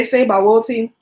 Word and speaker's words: Sebawoti: When I say Sebawoti, y'all may have heard Yahuwah say Sebaot or Sebawot, but I heard it pronounced in Bantu, and it's Sebawoti. So it started with the Tsvaoth, but it's Sebawoti.